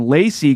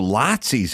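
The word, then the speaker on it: Laci: gorog throughout the place l-a-c-i-e that's how he would he would pronounce oh like lots that makes sense oh so lotsies in this book yeah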